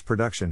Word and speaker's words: production: To pronounce production, have in mind that the size of the syllable indicates where the accent or stress is. In this case, the accent is in the second syllable, corresponding to duck.